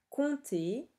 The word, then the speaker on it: compter: Temps, le P et le S sont muets, compter, le P est muet, et femme, comme on l'a déjà vu, se dit femme et non pas fame.